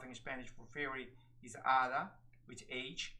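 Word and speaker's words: hada: Spanish for Fairy is Ada which age we don't pronounce the h h mute in Spanish so it's Ada and it just means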